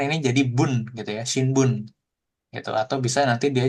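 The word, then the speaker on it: 新聞: Contohnya shinbun, ya kan? Shinbun. Oke, shinbun koran, ya kan? Jadi cara bacanya jadi shin karena dipadankan dengan kanji lain.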